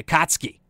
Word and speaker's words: Akatsuki: the Akatsuki, I'm sorry, I mispronounced it. I even asked them how to pronounce it, and I still messed it up. Pardon that. The Akatsuki. Having a great tournament run.